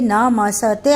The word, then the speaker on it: नमस्ते: आप जब नमस्ते बोलते हो तो वह आपके उच्चारण में नम धनते न म सते आता है, सते नहीं होता, नमस्ते। तो आधा स त में जुड़ा आता है, उसका उच्चारण होता है नमस्ते।